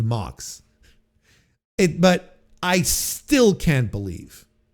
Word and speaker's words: Mox: Pox rhymes with Mox.